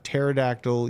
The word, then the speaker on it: pterodactyl: hear I can't hear the pterodactyl use the bathroom cuz the p is silent oh God that's a